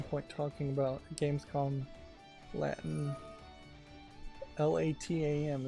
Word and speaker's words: LATAM: LATAM is how it's spelled. Almost like platinum.